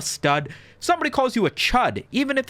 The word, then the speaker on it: chud: Even though it rhymes with the word stud, which you might think is like, "Yeah, I'm a stud." Somebody calls you a chud, even if it's your